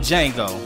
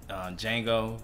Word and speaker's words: Django: As you know, what's funny, like the Django with the D is silent.